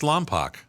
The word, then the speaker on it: Lompoc: And and I can't tell you how many people when I lived there asked me how much I liked Lompoc.